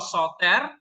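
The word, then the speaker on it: σωτήρ: Kok soto? Apa? Soter. Jangan nambah-nambahin. Soter. Soter itu artinya juru selamat, savior. Kalau soteria nanti itu artinya keselamatan, salvation, ya. Tapi kalau soter artinya orang yang menyelamatkan.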